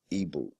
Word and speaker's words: Igbo: They spell it Igbo, if I'm not mistaken, or Igboo or Igbo, Ibu. The G is silent.